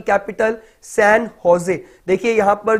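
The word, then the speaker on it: San José: Costa Rica की capital सैन होजे. देखिए यहां पर जो स्पेलिंग है जे ओ एस ई है, इसको सैन जोस नहीं पढ़ेंगे, इसको जोस नहीं बोलेंगे, इसको सैन होजे बोलेंगे.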